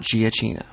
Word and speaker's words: Giacchino: Again, it's Giacchino, not Giacchino.